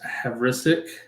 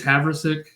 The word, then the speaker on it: Havrisik: I don't know where the emphasis goes in this name. I haven't got to watch a ton of Rams games. On the wrong syllable there, maybe. Yeah, I think it's Havrisik.